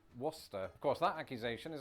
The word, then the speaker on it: Worcester: Worcester. There's a Worcester in Massachusetts. Okay, that's an interesting one. I wonder how it's pronounced in Massachusetts as well.